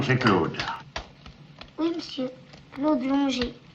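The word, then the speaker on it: Longuet: Claude Longer. L O N G U E T. C'est l'anglais. Ça se prononce l'onger.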